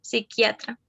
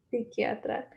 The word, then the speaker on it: psiquiatra: sin la p se escribe así pero se pronuncia sin lápiz solo psiquiatra psiquiatra serie coherente en un texto literario o de